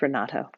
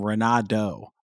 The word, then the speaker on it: Renato: Most Americans pronounce my first name Renato, like a deer, which that's not the way. That's not the way it's spelled. That's not the way it's pronounced.